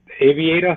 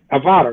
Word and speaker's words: Avata: I like so I was calling it Aviator at first, I think, Avata or whatever. But it's Avata, right?